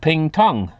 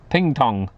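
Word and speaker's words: Pingtung: the southern city of ping Tong yes I think I pronounced it right p i n g t u n g ping Tong what a name for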